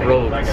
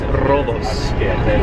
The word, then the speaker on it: Rodos: We've now learned that the island is not called roads. It is robos. That's how you say it.